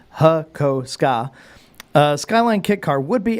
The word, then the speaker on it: Hakosuka: Hakosuka, pronounced Hakoska.